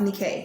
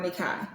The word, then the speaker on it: Nike: K I said it right earlier it is pronounced me K yes or nikai so um I'm going to call her Nikkei